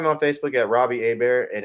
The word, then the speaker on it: Hebert: So, and you can find me on Facebook at Robbie Hebert, and it's spelled Hebert, not Her.